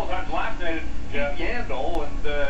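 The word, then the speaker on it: Yandle: We saw it a couple of times last night at Yandel, and it's perfect because his name rhymes with handle, and he was having all kinds of trouble handling the puck here tonight.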